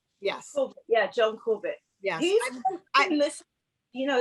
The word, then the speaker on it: Corbett: a puppy dog you know these big yeah john corbett am i pronouncing his night name correctly yes yeah john corbett yeah you know it's a hard it's a